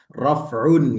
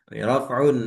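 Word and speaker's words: رفع: Tapi kalau bacanya rafa nasab jer itu pakai bahasa Indonesia yang biasa disebutkan aslinya bukan rafa aslinya ya raf'un gitu ya. Rof'un aslinya bukan nasab sebenarnya nasbun gitu.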